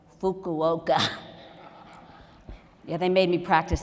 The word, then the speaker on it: Fukuoka: and Osaka and let me say this right Fukuoka yeah they made me practice that for two hours say it right Fukuoka lovely lovely people hundreds of Physicians came to